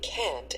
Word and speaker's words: can't: Notice how the T in can't and shouldn't is not strongly pronounced. You can't go shopping on Sundays.